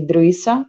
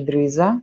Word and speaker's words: Drissa: Temos também o S intervocálico para evitar a pronúncia do S entre as vogais como Z, como o exemplo de Drissa, em vez de Drisa, né? Para não soar como Drisa.